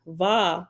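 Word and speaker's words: ו: the answer is simple the Hebrew letter VA makes a sound that is not exactly the same as any English letter but it's closest to a cross between V and W if you put your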